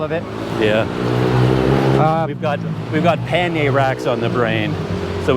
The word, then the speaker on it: pannier: Well, being a Canadian, we stick with more of the traditional French, so we say Pannier because the R is silent.